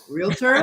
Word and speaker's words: realtor: chalkboard for me girl it is real tour realtor real tall not real love her that's the one education look really let's not pronounce it real tour yes yes real quick